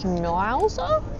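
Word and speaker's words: Schnauzer: Schnowzer Terrier.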